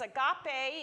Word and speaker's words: agape: It's agape. If you could spell it out, it's A-G-A-P-E.